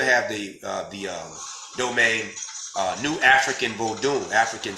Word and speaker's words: Vodun: So when people are spelling that Vodun, that's supposed to be pronounced Vodun. That is not how our tradition, that's not, no. The O is not even part of that U sound. The O makes an O sound.